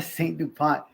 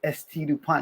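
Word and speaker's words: S.T. Dupont: hey bro you know it's not a St Dupont it's St Dupont I was like oh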